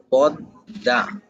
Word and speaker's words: পদ্মা: এই দ কে দুইবার উচ্চারণ করাবে। তাহলে দ কে যেহেতু উচ্চারণ করাবে তাহলে উচ্চারণটা কি হবে? পদ্দা। বুঝছেন? পদ্দা।